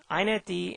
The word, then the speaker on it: inetd: iNetD and XiNetD is how this is pronounced, are super servers.